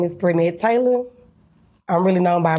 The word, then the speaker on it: Brednet: Is it pronounced Brednet? Yeah, Brednet Taylor.